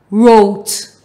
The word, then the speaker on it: wrote: R, oat, wrote. Now remember, in this word, the W is silent.